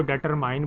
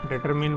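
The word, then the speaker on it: determine: अच्छा एक चीज़ मैं बताऊँ, कुछ बच्चे इसको डेटरमाइन पढ़ते हैं, ये करेक्ट नहीं है। आप गूगल पे या कहीं से भी ऑक्सफोर्ड डिक्शनरी से चेक कर लें, प्रोनाउंसिएशन डेटरमिन वर्ड होता है, विच एफ इज़ ए फंक्शन।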